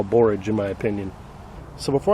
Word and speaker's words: borage: barrage plant asking me why are you calling it barrage it's borage well I say potato